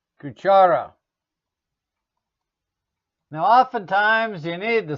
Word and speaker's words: cuchara: Cuchara is spoon. Cuchara. Don't confuse it with cucaracha. Cucaracha is an insect. Gringos always say cucaracha. That's not right. Cuchara.